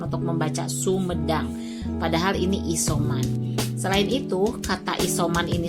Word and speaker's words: isoman: Isoman. Ternyata dibacanya isoman. Lalu saya membuat per suku kata. Isoman. Ini juga sulit dibaca tapi lama kelamaan jadi bisa. I dulu, so dulu, baru man. Setelah digabungkan isoman.